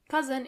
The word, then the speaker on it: Cousin: Cousin in plural, you have to add a French pronunciation to it.